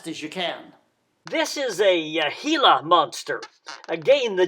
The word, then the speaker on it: Gila: as fast as you can this is a gila monster again the g sound in spanish is